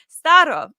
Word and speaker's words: Staro: Yes, pronounced with Russian accent. Haha. Staro.